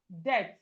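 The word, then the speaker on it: debt: Then we have death. The death. The B here, this B is silent.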